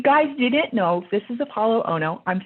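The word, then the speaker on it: Apolo Ohno: but if you guys didn't know this is apollo ono i'm saying it right right am i saying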